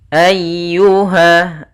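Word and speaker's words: أيها: Kemudian ayyuha. Nah, di sini ada huruf ya yang berharokat tasydid. Ya termasuk huruf lembut dan dia harus ditekan karena dia tasydid.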